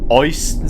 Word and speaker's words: Euston: EU is in German pronounced Oi. So when I watched videos about this game before I actually started playing it, Germans in this game always said Euston Square.